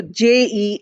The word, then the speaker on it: Jean: of the spelling is j e a n in English we might pronounce it as Jean but in France it is pronounced as je so Z is the